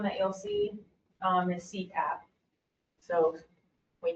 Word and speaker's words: CPAP: One big one that you'll see um is CPAP. So we pronounce it CPAP.